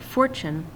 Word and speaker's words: fortune: syllable grace that's emphasized the word fortune I can't change the English language for has to be emphasized the other two syllables